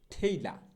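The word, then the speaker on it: tailor: এরপরে যে দর্জি, আমরা সবাই চিনি, টেইলর, অমুক টেইলর তমুক টেইলর, টেইলর না, সঠিক উচ্চারণটা হবে হচ্ছে ঠেইলা।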